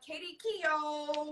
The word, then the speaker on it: Katie Keogh: Hey, so Katie Keogh. Yay! You got that right.